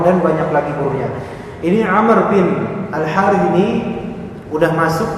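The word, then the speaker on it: عمرو: Amr Bin al-harit ini bacanya Amr ya Pak bukan Umar kalau nanti Antum melihat tulisan gundul ada Ain mim ro tanpa wau maka bacaannya gimana Umar atau Amr Umar tapi kalau ada Ain Mim ro kemudian wau bacanya Amr bukan bukan umaru bukan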